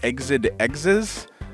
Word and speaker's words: Exed Exes: familiar name which is i believe it's pronounced exid exes e-x-e-d-e-x-e-s and it was renamed